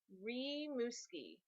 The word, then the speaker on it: Rimouski: ladies he's all mine it's pronounced rimouski ree muskie yes okay what are